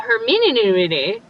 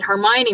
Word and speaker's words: Hermione: like that we're tr we're all trying to figure out how to pronounce hermione we're all hermeneuti and hemanini and then when the movie finally came out they said hermione were like oh so we've all been pronouncing it wrong so when i first